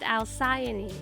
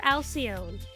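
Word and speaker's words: Alcyone: her name too much her name is technically pronounced alsiony i know that this name is pronounced alsiony however when i named this character i did not know that very crucial fact about the name so i've been calling this character alcion and even though i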